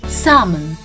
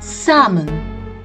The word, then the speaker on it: salmon: berry and lastly famously the l to this word is silent either in the british english or the american english and it goes like salmon salmon not salmon which we